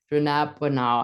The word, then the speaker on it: dronabinol: And then, of course, we know, and I always say this wrong, dronabinol, I think it is how it's said, contains a synthetic cannabinoid.